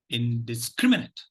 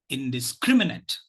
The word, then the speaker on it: indiscriminate: which syllable takes the stress okay so the pronunciation of this word goes like this indiscriminate indiscriminate indiscriminate indiscriminate now I know that there is